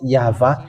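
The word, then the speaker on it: יהוה: And it's the book of Torah, which says that we call it YAHVAH, and that's how we read it in heaven of heavens. YAHVAH.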